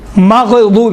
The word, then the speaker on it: مغضوب: اب دیکھیں مخارج مثالیں، غیر مغضوب، ماغ نہیں ہے، ماغ قلقلہ قطب جت میں دنیا میں ہوتا، باقی غین میں قلقلہ نہیں ہے، تلفظ کرتے وقت غیر المغضوب علیہم، ماغ نہیں ہے، مغضوب علیہم، مغضوب علیہم یہ ہے۔ اسی طرح سے اکثر